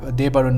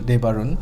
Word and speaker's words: Debarun: We have Debarun Mukherjee, label Debarun. Yes. If I'm pronouncing it correctly.